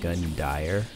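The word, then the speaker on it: Gundyr: did you know that gundear's name is actually pronounced gun dyer i'm serious look it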